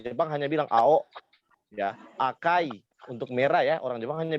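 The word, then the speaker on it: 赤い: biru bilangnya cuma tahu warna merah bilangnya cuma aka Ya nanti tapi di Jepang di Jepang itu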